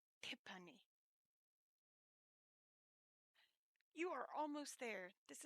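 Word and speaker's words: 티파니: tiffany in english and in korean my name is pronounced tipani tippani you are almost there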